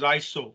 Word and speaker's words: ISO: for standardization uh uh it is it is pronounced as iso iso means in greek iso means equals so